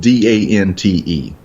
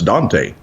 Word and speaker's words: Dante: There's a town that is spelled Dante, which if you're a literature fan, that's Dante. Dante's Inferno. Yeah, yes. Dante Alighieri. No, it's Dant.